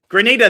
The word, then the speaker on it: Grenada: Grenada. Thank you. Thanks. I knew I was going to mispronounce it.